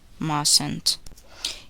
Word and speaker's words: mustn't: The letter T is silent in the following words. Listen and repeat each word after the speaker. Often, listen, fasten, hasten, mortgage, mustn't.